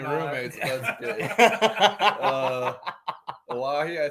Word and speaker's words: Oahe: Mississippi River, Oahe.